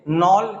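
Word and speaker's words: Knoll: फिर उसके आगे नॉल के साइलेंट रहेगा, नॉल एंड रस्का, ठीक है, या रुस्का भी बोल सकते हैं, रिस्का मत पढ़ लीजिएगा, रस्का या फिर रुस्का।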